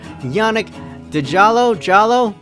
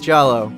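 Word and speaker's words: Yannick Djaló: Next up in the Paysor section is this guy right here, Yannick Jallo. Maybe it's Jallo? I'm thinking it's Jallo, like Django, because the D is silent.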